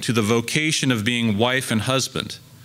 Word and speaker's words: vocatio: The Latin and German words for calling and vocation and call are the same. In Latin, vocatio. Actually, I should pronounce that vocatio. That'd be the classical way.